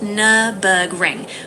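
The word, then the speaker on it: Nürburgring: No, but we're in multiplayer mode and it's at the Nurburgg Ring. How do you say that properly? Ah, the Nmberg Ring. It's pronounced Nurburgg Ring with the U sounding like the U in fur.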